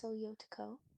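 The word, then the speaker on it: 強い男: In Japanese, strong boy is tsuyoi otoko, which is written as tsuyoi no. Please repeat. Tsuyoi otoko is the Japanese phrase for strong boy. It's pronounced soyotoko.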